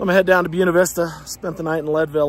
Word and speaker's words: Buena Vista: You guys might be wondering why the heck I keep calling it Buena Vista. It's obviously pronounced Buena Vista, the Spanish spelling. Well, that's not true here.